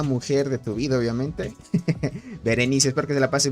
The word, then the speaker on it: Berenice: Dice Berenice, así se pronuncia. Un saludito para tu hermosa mujer de tu vida, obviamente. Berenice, espero que te la pases muy bien.